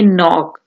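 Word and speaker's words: knock: इसको के जो है इसमें साइलेंट होगा, हम कहेंगे नॉक।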